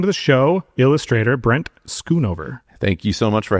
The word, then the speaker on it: Schoonover: Welcome to the show, illustrator Brent Skunover. Thank you so much for having me. It's an honor, dude. I always try to pronounce it Shunover every time I look at it.